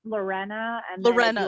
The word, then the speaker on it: Lorena: It's pronounced Lorena, and then Lorena.